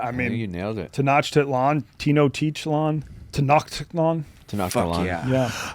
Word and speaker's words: Tenochtitlan: Tenochtitlan, Tenochtitlan, Tenochtitlan.